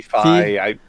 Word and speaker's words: Fi: To your point about, is it Faye in Skyward Sword? Fi.